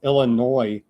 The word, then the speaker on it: Illinois: I guess it's Illinois and leave the s off.